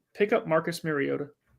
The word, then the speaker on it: Mariota: Pick up Marcus Mariota. Sorry, how'd you say his name? Mariota. Maybe. Yes. Like you gota I want to continue with this segment.